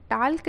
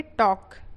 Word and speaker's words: talk: टॉक slowly, क्या पढ़ेंगे, टॉक, TALK, friends यहाँ पे एल जो है क्या रहेगा, साइलेंट रहेगा, है ना, इसको क्या पढ़ेंगे, टाल्क नहीं पढ़ेंगे, इसको पढ़ेंगे टॉक। ठीक है, तो क्या हो